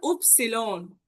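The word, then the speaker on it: Ypsilon: আর একটা হচ্ছে উপসিলন।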